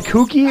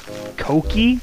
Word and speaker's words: Koki: a little bit rude who is it kooky or is it Koki okay please tell me how to pronounce this because i think i pronounce everybody else's name in my stream correctly Koki is it really Koki really you [ __